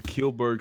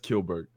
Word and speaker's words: Kjellberg: The original announcement about his donation to the ADL comes after Kilberg stated that he wanted to move past his former controversies.